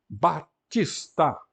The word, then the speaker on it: Baptista: Batista, aqui está com a escrita que era normal em Portugal antes da reforma ortográfica, não é? É certo que ninguém lia Baptista, mas escrevia-se Baptista, de acordo, aliás, com a etimologia.